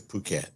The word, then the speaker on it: Phuket: Yeah, it is Phuket. Oh, come on. You take all the fun out of it. Right. Sorry. Phuket.